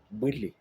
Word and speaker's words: bwele: Bouélé. Tout à l'heure, on a dit bouéla, bouéla, c'est bouélé. Bouélé, ça veut dire regarder, voir.